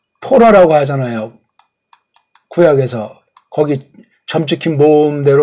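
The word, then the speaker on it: תורה: 주셨다고 해서 처음 쓴 거잖아 이걸 갖다가 예 토라고 하잖아요 구약에서 거기 점찍힌 모험대 발음하면 토라고 하는 거예요 토라 토라가 정말 지금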